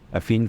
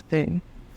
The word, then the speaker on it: phin: fin, Oh, I thought it was Finn. like Phineas and Ferb. Yeah, I thought it was Finn. No. I can't pronounce it either, but I know it's not.